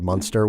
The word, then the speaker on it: Munster: In a town called Munster, not like the cheese. I mean, it sounds like the cheese, but it's not spelled like the cheese. Munster, Munster, which is about as